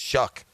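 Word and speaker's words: Shough: than Trevor Lawrence yeah age matters yeah that's shuck it is pronounced shuck okay Anthony came in at whatever 19 20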